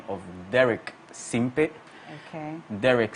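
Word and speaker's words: Simpey: the name of Derek Simpe. Okay. Derek spelled as D-E-R-E-K, Simpe as S-I-M-P-E-Y. I like the way you pronounce it. Very Ghanaian, Simpe.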